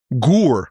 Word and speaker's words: Gur: Gur, or Ger, different ways to pronounce it.